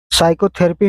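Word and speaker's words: psychotherapy: answer C हो जाएगा पी साइकोथेरेपी में पी साइलेंट रहता है क्वेश्चन संख्या 75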